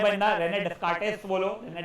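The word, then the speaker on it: Descartes: Rate वो I think so उसका S silent है बट अपने को स्पेलिंग लिखने को नहीं आता है। यह एमसीक्यू में पूछा गया है कईयों बार। तो याद रखना है क्या है बंदा? रेने डिस्कार्टेस्ट बोलो।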